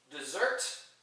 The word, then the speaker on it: dessert: Whereas dessert, when the accent is on the second syllable, that's used as a verb.